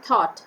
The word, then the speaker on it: thought: o u g ht thought again here g h is silent here in this word thought show s h o w